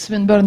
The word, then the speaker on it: Swinburne: So, he is, I actually don't know how to pronounce it, it's Swinburne? Yes. So it's Swinburne University, but the talk will be about the work done with an Australian meat processing company.